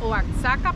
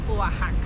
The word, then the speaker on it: Oaxaca: casi nada de México Yo pensé que se pronunciaba oaka pero es oajaca que les agrade amigos